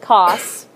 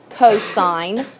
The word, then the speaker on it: cosine: on your calculator button it says cos don't call it costs okay you're going to know that that stands for cosine and that's adjacent over